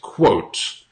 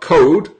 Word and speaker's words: quote: Just one thing, so the pronunciation is quote, not code, quote, quote. Make sure you've got the T sound there, okay?